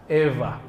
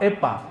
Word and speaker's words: Eva: Eva pakai wau tapi wau di sana dibacanya semi-semi V antara wau dan Fa Eva bukan Fa bukan pula Pa Epa bukan ya ada orang Sulawesi